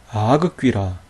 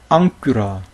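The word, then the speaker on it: ἄγκυρα: 그대로 한번 발음해 보세요 자 어떻게 발음 할까요 아그 겔로스 아그 귀라 에그 크리오 살비 그 크스 이렇게 발음 할까요 그렇지 않다는 거예요 앙겔로스 앙쿠라 크리오 살 핑크스 이렇게 발음했다 거예요 왜 그럴까요 조금 전에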